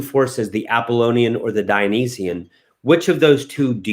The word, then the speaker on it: Dionysian: guys very good brandon you are correct the dionysian i'm let me spell that for you dine or i would actually